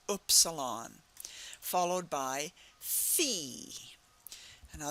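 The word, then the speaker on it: Phi: sound oilon followed by Fe now that's sort of like our letter F that's the sound uh but but the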